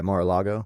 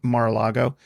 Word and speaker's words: Mar-a-Lago: Mar-a-Lago? Yeah, Mar-a-Lago. Mar-a-Lago.